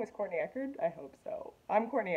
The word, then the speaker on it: Courtney Echerd: interviewing me did I say my name is Courtney Eckert I hope so I'm Courtney Eckert corny Eckhart